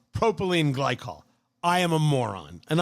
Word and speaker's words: propylene glycol: It's not glycine propol. It's propylene glycol.